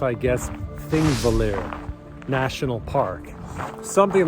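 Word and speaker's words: Þingvellir: So this location right here is pronounced, I guess, Thingvellir National Park.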